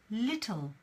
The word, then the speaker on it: little: little little so little little is pronounced this way and of course again we have the schwa sound little woo little little yeah that sound that schwa sound is always everywhere now we have consciousness